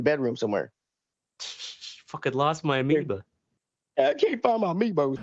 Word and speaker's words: Amiibo: Fucking lost my amiibo. I can't find my amiibos, man. What is it? How do you say it? Or how do you spell it? Amiibo. Shit. Amiibo. I called it an amoeba.